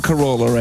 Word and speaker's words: Carolla: Hi, this is Clive Barker, and you're listening to LoveLine with Adam Carolla and Dr.